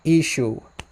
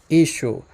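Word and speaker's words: ܝܫܘܥ: But in the Western dialect, it's pronounced Ishu. Ishu.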